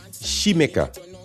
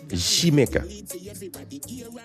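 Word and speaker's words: Xaymaca: It's Shemika. It's S H I, pronunciation of s h i she so it's she make a not yeah not ja it's she blew my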